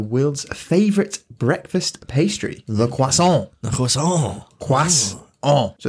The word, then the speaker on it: croissant: So like, let me just spell it out how you meant to say it. So it's KWASS, quass, on.